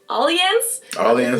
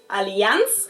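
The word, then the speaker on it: Allianz: Most Americans call it Alian. Correct German pronunciation is Aliance Alian and the Alian Arena is Alian Arena in German.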